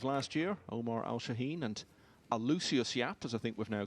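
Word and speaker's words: Aloysius Yap: It's a clash of the runners-up from the two biggest events of last year, Omar Al-Shaheen and Alucius Yap, as I think we've now clarified it's pronounced.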